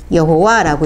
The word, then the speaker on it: 여호와: 우린 복합적인 게 뭐냐면 우리는 또 이걸 제이라고 우리는 또 이걸 또 제이가 아니라 우린 이 발음이 있는 거야. 우리는 발음이 있는 거예요. 그래서 얘 제이 아니야 우리는. 그죠? 그래서 얘하고 더 비슷한 발음으로 읽습니다. 그래서 우리는 여호와라고 읽습니다. 그죠?